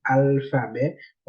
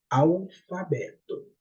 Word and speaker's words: alfabeto: Après, L, ça, il n'est pas prononcé tant L, il est prononcé tant que W. L, ça, qui après A, il est prononcé tant que W. On va dire alphabeto. On va dire alphabeto, on dit alphabeto.